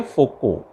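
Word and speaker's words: Foucault: एक साइंटिस्ट थे फोको, FOCAULT, ये पीछे वाले अक्षर साइलेंट हैं, फोको पढ़ते हैं इसे।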